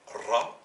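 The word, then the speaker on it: راء: La lettre s'appelle Ra et elle se prononce R.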